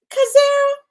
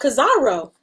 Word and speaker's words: Kazaro: Hey, Kazara. Oh, Kazaro. Hey, Kazaro. See, I said it wrong.